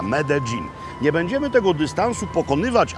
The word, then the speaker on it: Medellín: W trakcie dzisiejszej podróży mamy do przejechania dystans pomiędzy trójkątem kawowym a miastem Medellín, znanym u nas jako Medellín, ale tak to się właśnie tu wymawia, Medellín.